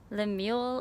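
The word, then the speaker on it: Lemuel: then i think it's i think he pronounced it the mule it's like samuel but l l-e-m-u-e-l really interesting i really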